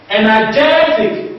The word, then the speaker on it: energetic: Energetic, energetic, the second from the last syllable is what? Is jet.